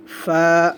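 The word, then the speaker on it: ف: এগুলো গলার ভিতর থেকে উচ্চারণ করা হবে একটু মোটা করে, আইন, গয়িন। ফা, এ ফায়ের গোলমাতা, এই গোলমাথা উপরে এক নক্তা ফা।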